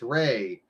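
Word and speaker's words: Rei: It's Ray. Only they spell it R-E-I.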